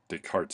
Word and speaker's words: Descartes: um and these are the cartesian coordinates where does cartesian coordinates come from um from rene descartes right descartes in french this is silent um and uh yeah